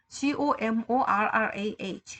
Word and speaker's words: Gomorrah: Gomorrah, G-O-M-O-R-R-A-H. 그러니까 Gomorrah. 뭐 이렇게 발음하는 거죠.